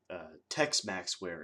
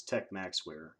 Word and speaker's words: Tech Maxware: So, uh, you know, he likes to pronounce my name Tex Maxware. It's Tech Maxware.